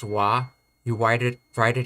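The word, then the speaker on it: は: romanji is h a whenever you say this particle you pronounce it as wa you wide it write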